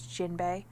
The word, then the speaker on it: Jinbe: of the technically it is an eye is jinbei um jinbei is spelled like in a Bernstein's way that it's